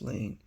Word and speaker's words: Lane: Finally, do you know the girl whose last name rhymes with Maine? It's Lois Lane.